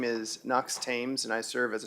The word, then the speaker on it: Thames: Thames? Did I say it like the river? Thames? We say Thames. Thames, okay, all right.